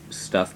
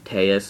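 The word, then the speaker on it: Abyssteus: a quick rant um it's called tus it's not Stu or stus um because Abyss is part of the card's name so it's abyss and then whatever is after that so if you're going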